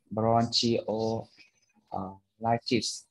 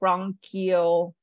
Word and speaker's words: bronchiolitis: Bronchiolitis. All right, so the CH in most medical terms is usually pronounced as a K. So bronchiolitis.